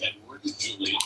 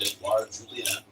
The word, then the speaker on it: Edouard Julien: Nonetheless, once his name pronounced, Edward Julian, not Edouard Julien.